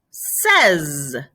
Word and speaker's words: six: Six, says. So six, says.